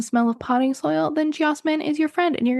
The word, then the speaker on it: Geosmin: One is called Geosmin, I think is how you say it. Geosmin, Geosmin.